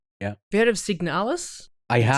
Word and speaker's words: Signalis: Have you heard of Signalis? I That's how you have.